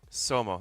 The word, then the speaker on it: Somo: Somo, that's how you pronounce it.